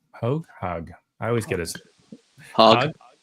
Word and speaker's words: Hogg: mentioned earlier, is David Hogg. I always get his Hogg. The second G is silent.